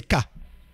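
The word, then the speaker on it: כ: à l'envers HM alors sa prononciation c'est k hein que comme c'est à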